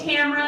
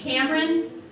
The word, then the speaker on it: Tamra: all the time like people are constantly mispronouncing my name and because my name's Tamara people will call me one of two things will either call me Cameron or Tamara and honestly I don't